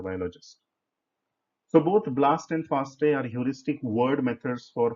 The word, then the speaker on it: FASTA: Do not pronounce it as FASTA. It is pronounced as FASTA.